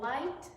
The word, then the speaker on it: light: We have light, GH is silent in light.